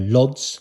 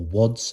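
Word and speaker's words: Łódź: Roger Waters uh uh lods or wads I think it's pronounced in Poland another concert I was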